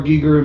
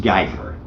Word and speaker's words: Giger: creature effect inspiration from H.R. Giger himself. I've also heard it pronounced Geiger, but yeah. Most people are dumb.